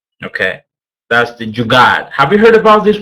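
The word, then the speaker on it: jugaad: okay um it's very easy is the jard it's spelled j u d a d okay that's the jugad have you heard about this word before wow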